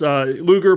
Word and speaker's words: Luger: Luger, pronounced like the old 1990s wrestler, Lex Luger.